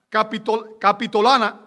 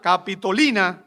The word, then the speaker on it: Capitolina: Ellos recorrían en Roma la vía sacra hasta llegar al templo de Júpiter en la colina capitolana. Capitolina, perdón, ese nombre me costó trabajo pronunciarlo.